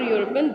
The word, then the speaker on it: European: the vowel a okay and we have used a before European though it is beginning with vowel e but it is beginning with the sound of a consonant U okay now see another